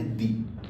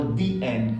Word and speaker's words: the: सीधे सीधे कि हमारा जो THE है उसको प्रोनाउंस हम क्या करेंगे? दी. इसीलिए that is द only reason we always call that word दी एंड, नॉट द एंड.